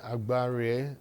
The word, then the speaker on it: Agbare: Thank you so much, Princess Priye Agbare. Did I get that right? Agbare? Princess Priye Agbare. You're not pronouncing the M.